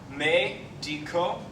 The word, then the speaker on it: médico: You see that accent on the E, médico, and that's where your accent lies.